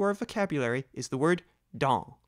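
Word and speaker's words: dans: spelled D A NS remember not to pronounce the last letter s or in this case the next to the last letter n and speak the word through your nose do you remember La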